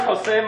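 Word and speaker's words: José: My name is Jose. Don't forget the accent on the E.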